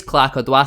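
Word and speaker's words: Clarke Oduor: I believe it is Clarke Odouur. Simon Parker has tweeted multiple times saying that's how you pronounce it.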